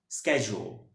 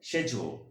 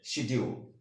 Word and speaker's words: schedule: In British English correct প্রনাউন্সিয়েশনটা হবে হচ্ছে শেজুয়াল। আমি আবার বলছি শেজুয়াল। But don't say শিডিউল। আমরা উচ্চারণটা অনেক সময় এটা শিডিউল উচ্চারণ করে থাকি, আসলে প্রনাউন্সিয়েশনটা শিডিউল নয়, সঠিক না, ঠিক আছে?